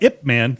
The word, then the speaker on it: Ip Man: Eat sushi, swim class, and fight IP Man. Or Man. what's that? Ip Man. Ip Man. Oh, sorry. That's how it's pronounced.